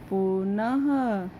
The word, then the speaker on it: पुनः: पुनः, पुनः पे भी 2 बिंदी लगी हुई है, ये विसर्ग है, तो इसकी ध्वनि कैसी आई है उच्चारण बोलने पे, पुनः, तो ये देखो पुनः, ह आया, आदि।